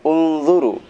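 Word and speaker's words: انْظُرُوا: Unzuru ila sama, huruf ketiganya adalah huruf dha. Dha dibaca dhammah, maka u dibacanya unzuru.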